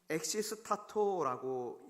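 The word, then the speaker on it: ἐξίστατο: 여기서 놀라니라고 번역된 성경 언어가 엑시스타토라고 읽는데, 이 엑시스타토라는 이 말은 너무 놀라서 정신을 잃을 만큼, 그런 만큼 너무 놀란 거예요.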